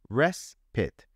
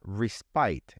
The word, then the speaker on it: respite: point out here is that the word is pronounced respite not respite it looks like it should be respite and people who are not familiar with the word when they see it they will say respite because that's the normal way of reading English